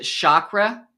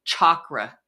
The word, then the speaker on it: chakra: You know, we pronounce it chakra. It's really chakra. Did you know that? Chakra. Like a chalkboard.